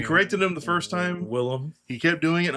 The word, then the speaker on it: Willem: Willem Dafoe, not how do people mispronounce his name? William.